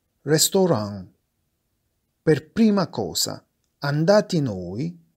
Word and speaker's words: Restaurant: Ristorante si scrive e si pronuncia come in francese. Restaurant.